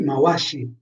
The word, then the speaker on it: Mawashi: Se trovo come in Mawashigeri la doppia V, non va letta V, come se stessi leggendo viva, ma va letta W all'inglese, come in what, quindi Mawashi.